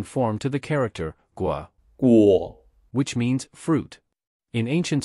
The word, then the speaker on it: 果: The pronunciation of Gua, Guo, can be associated with grow, as in grow fruit.